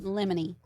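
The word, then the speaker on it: in limine: Lamine lemony. I literally I literally put how to say it. Oh, pronounced in lemony, Latin for at the threshold.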